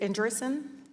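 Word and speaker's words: Andreessen: you Mr Marcus so Mark Ander is it andrison am I pronouncing that correctly uh yes congresswoman Mark erson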